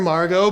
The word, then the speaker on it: Margot: I'm Margot, the ex is silent.